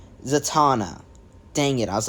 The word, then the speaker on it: Zatanna: it it's not um I think her name's like sazana it's something of that nature so I'm just quickly checking because I don't want to keep pronouncing it wrong zatana dang it I was